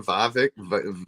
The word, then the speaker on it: Vivek: Vivek?